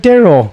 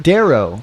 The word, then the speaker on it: Darrow: It's Darrow. I said Jacob Darrow. Oh, I thought you said Daryl. Not Daryl. Jacob Darrow.